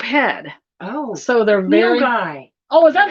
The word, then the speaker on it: nilgai: Nagalis.